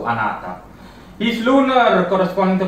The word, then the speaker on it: Anata: And yeah, he says he prefers the pronunciation be Anata. So Anata.